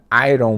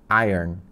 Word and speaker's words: iron: fala assim inglês né a palavra a ROM né é pronunciada Irene Airon Airon tipo eu ganho né Iron Iron Man